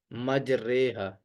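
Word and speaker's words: مجريها: तो अमू में हम इसको मजरी हा ही पढ़ते हैं जहां पर भी खड़ी जेर आएगी तो हम उसको मारूफ पढ़ते हैं लेकिन यहां पर हम इसको इ माला के साथ पढ़ेंगे यानी झुका कर पढ़ेंगे मजरी हा की जगह पर मजरेहा पढ़ेंगे उसके बाद हिदायत नंबर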